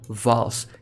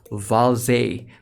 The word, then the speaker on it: Valze: not how you pronounce vowels you have to pronounce it as valse because like there's an e at the back you know what for